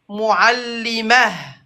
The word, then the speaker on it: معلمة: Dès que tu vois le T fermé, tu le prononces comme ha.